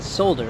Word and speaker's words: solder: Well, for example, like, it wasn't too long, I think like just a couple weeks ago, that I realized the L in solder is silent.